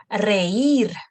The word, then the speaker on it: reír: Reír, to laugh, reír.